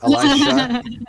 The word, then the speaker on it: Elisha: How do you pronounce his name? Elisha.